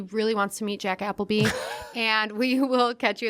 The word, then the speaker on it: Appleby: It's pronounced Appleby, but I'm Jack Appleby across most of the platforms.